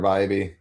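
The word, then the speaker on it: Bibee: You have to pronounce it wrong for it to. There it is. I Yeah. forgot. Yeah. Tanner Bybee. Yep. Or I thought it was Bibby for the longest time.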